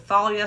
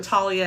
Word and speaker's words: Thalia: We should just make it all known that I will pronounce it Thalia. Thalia. Talia.